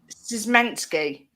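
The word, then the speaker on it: Szymański: Bru he plays for no Turkish star Sebastian sansky have you heard of him I reckon you butchered the name it's s It's s s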